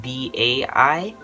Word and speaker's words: bai: Well, it's pronounced the same way, but it's like spelled totally different, not B-I. It's actually spelled B-A-I.